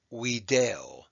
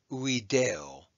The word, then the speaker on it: video: in Latin is pronounced we Dale that V is actually a w sound or a u we Dale we Dale and it